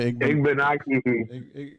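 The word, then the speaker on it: Igbinoghene: Noah Igbenaki. Mike Watson was on here the other day. He told us he said it rhymed with mahogany.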